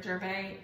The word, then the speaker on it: Gervais: But you are right, yes, I think it is a silent S on the end because I think it's a French pronunciation.